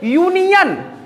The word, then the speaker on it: यूनियन: यूनियन। यू हमारा vowel letter है। But pronunciation करते हैं। क्या करते हैं? प्रोनाउंसिएशन करते हैं तो यूनियन का तो य हमारा फर्स्ट साउंड आ रहा है।